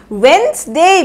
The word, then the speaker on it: Wednesday: सो इसको भी आप लोग प्रोनाउंस करिए, जल्दी से प्रोनाउंस करिए, करिए करिए। Wednesday, मेरे पीछे पीछे बोलिए, Wednesday, Wednesday।